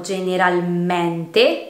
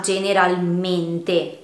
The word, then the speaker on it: generalmente: La E tonica è chiusa in tutte le parole che finiscono con mente. Per esempio la parola generalmente. Non la pronunciamo generalmente, ma generalmente.